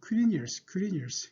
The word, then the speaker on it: Quirinius: 근데 이제 구레뇨는 영어로 발음은 Quirinius.